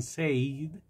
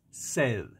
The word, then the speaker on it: said: pasado se escribe said muchos pronuncian save pero es sed sed como cuando usted tiene sed y necesita agua sed entonces póngale atención al